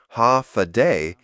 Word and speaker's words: Hafa Adai: Pronounced ha-fa-day, it means hello in Chamorro, but it's more than that.